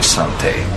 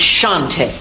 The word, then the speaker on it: Shante: have quite a history Sante if you can put me under arrest you can pronounce my name correctly it's Shante it's prettier that one you